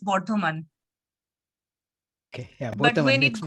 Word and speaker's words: Bardhaman: How is it pronounced? Actually, in Bengali, we call it differently. It's Bardhaman.